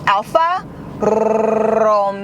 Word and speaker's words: Alfa Romeo: So you have to roll your R's. So pay attention. It's Alfa Romeo.